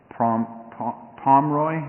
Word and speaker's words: Pomeroy: representing Sean is Pomeroy. Is that the right way to pronounce Pomeroy? Okay. I'm not throwing in that extra E.